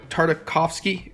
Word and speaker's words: Tartakovsky: see it right indie Tartikoff it's hard a Tartakovsky coughs key actually I said it right genndy